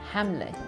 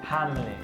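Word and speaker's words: ሓምለ: Hamle. Hamle. Like ham? Ham. Le. Hamle.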